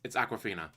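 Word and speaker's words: Awkwafina: Not spelled like the water, but it's Aquafina.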